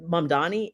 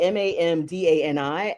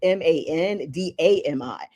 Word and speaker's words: Mamdani: There are like in your brain wiring, you may see Mamdani and you may pronounce it Mandami.